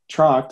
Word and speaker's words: Trokt: in the language, but it turns out no one in America can pronounce T-R-O-C-H-D, which was our first go at it. So the first big marketing thing was put a K in there instead and make it phonetic.